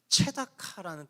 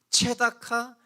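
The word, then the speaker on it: צְדָקָה: 마찬가지로 옳은 일이라는 단어는 체다카라는 뜻인데 울부짖음이라는 단어는 체아카라는 단어예요. 체다카, 체아카, 역시 비슷한 발음의 라임을 연결하고 있죠.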